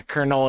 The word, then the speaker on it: colonel: know we're stupid yeah Colonel and Colonel are both pronounced the same that those are pro